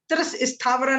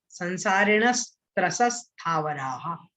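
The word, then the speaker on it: संसारिणस्त्रसस्थावराः: त्रस स्थावरा नहीं बोलना, गड़बड़ हो जाएगा, फिर उच्चारण ठीक नहीं बनेगा। संसारिणस त्रसस स्थावराहा। ठीक है, ऐसा इसका उच्चारण होगा।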